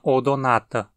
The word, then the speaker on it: Odonata: das libélulas se chama odonata a segunda sílaba é na e tem uma vogal longa então a nela que caiu assento como a gente faz